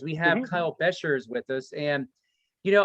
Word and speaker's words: Beshears: name because of ours beshears beshears but shares we have kyle bashers with us and you